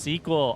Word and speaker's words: SQL: It's pronounced squeal. It's pronounced suckle. It's pronounced however the freak you want. SQL. SQL. How's it actually pronounced? Tell me so that I can forget and pronounce it how I want. Oh, I got caught on the sign. It's pronounced sequel.